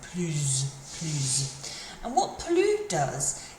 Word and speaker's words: plus: If the next word starts with a vowel, we pronounce the S, but it kind of almost sounds like a Z sound. Plus.